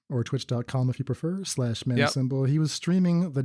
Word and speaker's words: Manacymbal: symbol SYMBAL, and at Manacymbal. CYMBAL. Oh, did I say it wrong? Symbol like the instrument, right. Like a drummer would play.